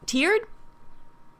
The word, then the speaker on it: tiered: is Soldier major turd is tiered rhymes with beard tiered anyway it is by